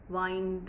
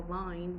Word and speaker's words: wine: Let's have some wine tonight. You can't have a vine. Vine is what actually climbs up on trees like a creeper.